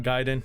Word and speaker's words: Gaiden: Um, are you annoyed by the way I pronounce Ninja Gaiden and not Giden? That's just how I was raised since the first one and just kept saying it. I know it's wrong.